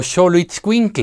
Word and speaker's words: xoloitzcuintle: It sounds like J when we pronounce Mexico, Mexicali, Xalapa or Oaxaca; but it sounds like SH if we mean Xola or xoloitzcuintle; it sounds like S